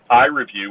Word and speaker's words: iRevu: You can go to our website to learn more about iReview at iReview, which is spelled IREVU.me.